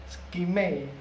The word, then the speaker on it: skmei: tangan outdoor jam tangan skmei cara bacanya gitu ya dengan tipe berapa ini